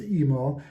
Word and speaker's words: Emil: And I know I pronounced his name Emil that's because I have an uncle whose name is Emil and he pronounced it Emil not E-Mil so in case you're wondering.